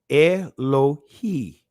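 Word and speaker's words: אלהי: Elohi, right? That's how it's pronounced in the Israeli language.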